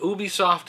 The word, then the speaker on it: Ubisoft: Ubisoft is doing their E3 press conference and at 8:00 pm Sony with the party it's pronounced u b i soft oh is that how it's pronounced it's French apparently Nintendo's going to have